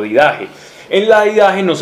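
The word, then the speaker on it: Didaché: la vida que en griego del viaje o didajé en la vida que nos habla de cómo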